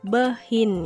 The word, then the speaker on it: behind: belakang adalah behind ya dibacanya bukan behind ya tetapi behind contoh kalimatnya there is